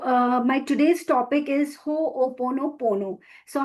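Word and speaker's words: Hoʻoponopono: uh how it is pronounced as it is pronounced as hope o pono pono.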